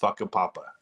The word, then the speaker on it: Whakapapa: makes sure that you know that the correct pronunciation is whakapapa it's a great city name it's actually the